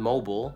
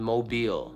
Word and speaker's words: Mobile: Number eight, Mobile, Alabama. Common popular pronunciation, Mobile. Prevailing local pronunciation, Mobile.